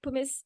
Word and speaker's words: pumice: I'm saying it right pumice pumice stone it is not pubis Stone it is pumice p-u-m-i-c-e stone in case my